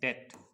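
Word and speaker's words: debt: को क्या कहते हैं डेट, जिसमें बी साइलेंट होता है, इसको DET डेट पढ़िए, बी साइलेंट रहेगा डेट, ठीक है।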